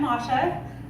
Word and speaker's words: Masha: I'm Masha. My name is pronounced Mosh, like in mosh pit, in case that helps you remember.